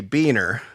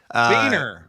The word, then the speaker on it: Buehner: Well, okay, so first things first, the Midwestern pronunciation would be Buehner. Beaner.